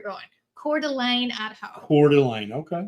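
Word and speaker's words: Coeur d'Alene: Uh Sherry says it's pronounced Cordelane is where you're going. Cordelane at home.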